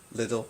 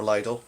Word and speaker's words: Lidl: it was again in little or Lidl however you want to pronounce it and uh it was